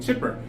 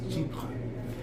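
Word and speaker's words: Chypre: pronounce it correctly because some people call it chipper which is okay that's how you pronounce it that's how you pronounce it but he had an episode where um the person taught it how to pronounce it correctly and it's cheap and so i'm not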